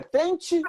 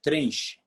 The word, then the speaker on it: Trenche: física ali do jarinho a propósito é trente ou trenche trenche TR Como escreve né É trenche como se escreve é nch então jáo trentes Gonçalves